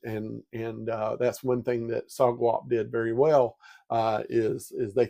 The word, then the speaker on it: SOGWAP: Did you pronounce it that way, SOGWAP, or?